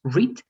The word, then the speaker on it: read: why in this case read doesn't change in the spelling huh only the pronunciation changes it's red red red all right